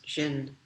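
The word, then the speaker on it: 信: The oldest Chinese character for faith is Xin, spelled in English Xin, or in Japanese Shin.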